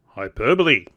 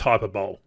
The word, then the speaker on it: hyperbole: Methinks you're using hyperbole. And no, it's not pronounced hyperbole. Hyperbole.